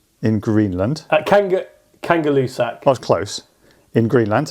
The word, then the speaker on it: Kangerlussuaq: A, and excuse my pronunciation here, Kangerlusaka in Greenland? Kangalusak.